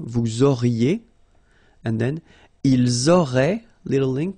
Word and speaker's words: auraient: auriez, and then ils auraient, little link, but then look, A-I-E-N-T like that, and you only pronounce E, like we had here. It will be exactly the same pronunciation here.